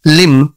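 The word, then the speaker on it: limb: ಓಂ ಟಿಓಎಂಬಿ tomb tomb not tube L ಐಎಂಬಿ ಲಿಮ್ ಲಿಮ್ ನಾಟ್ ಲಿಂಬುಎಂಬಿ ನಮ ನಮ ನಾಟ್ ನಂಬ ಸಿಎಲ್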